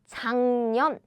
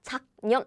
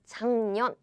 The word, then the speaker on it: 작년: So the nasal version of sound is So how we pronounce is 작년. Ooh, yes, it's not 작년. Nope. It's 작년.